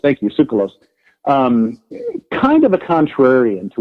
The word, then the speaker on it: Tsoukalos: George, what is it, Zoulas? How do you pronounce George's name? That's the founder. Tsoukalos. Thank you, Tsoukalos.